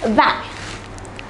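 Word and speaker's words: vingt: number 20 it is back notice that the T at the end is silent for number 20 it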